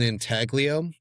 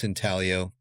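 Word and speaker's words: intaglio: He calls it an inaglio or maybe it's inalio if it's being pronounced like Italian pronunciation which is like an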